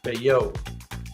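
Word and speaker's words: Bayeux: Beao. Beao. Beao. Tap tapestry. B A Y E U X. Beo tapestry.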